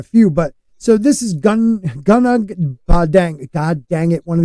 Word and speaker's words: Gunung Padang: But so this is Gunag Padang. God dang it! One of these days I'm going to say it right. No, not dang it. It's just Padang. Dang. That's it.